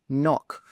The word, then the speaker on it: knock: the answer is knife the K in knife is silent just like in words like no and knock all of the other words are pronounced as they are written now let's have